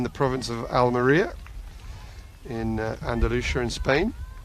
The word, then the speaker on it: Andalusia: So we are in the province of Almeria, in Andalusia in Spain. Andalusia. There's lots of different ways of pronouncing it in English. Only one way of pronouncing it in Spanish.